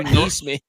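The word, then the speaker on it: NeSmith: It's Matthew Neesmith.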